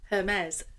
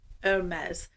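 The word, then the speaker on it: Hermès: Hermes. Okay, so a couple of people have told me to say it as Hermes rather than Hermes, and I do know that.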